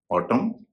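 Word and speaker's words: autumn: उसी तरह से किसी शब्द के अंत में अगर एम एन हो उसमें भी एन का उच्चारण नहीं होता है। यानी नियम करीब एक जैसा है। आइए कुछ शब्द देख लेते हैं। ऑटम सोलम column condemn him.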